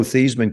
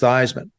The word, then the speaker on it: Theismann: It was Roger Valdesari was our public relations director, and my freshman year, somebody had mentioned to Roger that Joe Theismann kid at that time, everybody from Jersey's Joey, Bobby, Tommy, all our first names end in Y.